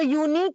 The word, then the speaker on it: unique: Like if you write unique, so unique का pronunciation starts with ya, you, right?